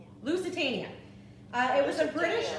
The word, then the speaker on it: Lusitania: super fun all right the answer was luciana how do you say it here lusitania uh it was a